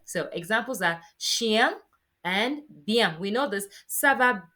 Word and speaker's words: bien: It's kind of like you're saying Ian, Ian, Ian together, right? So examples are chien and bien.